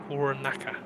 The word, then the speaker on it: Cornacchia: How do you pronounce his name again? Cornacchia.